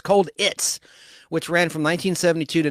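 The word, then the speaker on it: Colditz: Universal television series cits which is spelled cold like cold war itz cold its like a Ritz cracker cold Ritz cold its which ran from 1972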